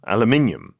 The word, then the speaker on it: aluminium: 알루미늄 저기 영국 발음이 어떻게 된다고요? 한국랑 되게 비슷하네요. Aluminium.